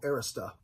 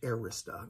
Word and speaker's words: Arista: for his new label arista it's called arista not arista i'm going to end